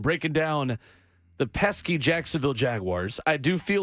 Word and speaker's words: Jaguars: I feel like I need to remind people that it is Jaguars, not Jaguars.